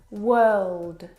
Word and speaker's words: world: Now, you're probably mispronouncing these words because you are looking at the O R and you're trying to pronounce the vowel sound o like in door. But this is incorrect. The vowel sound is actually as in her.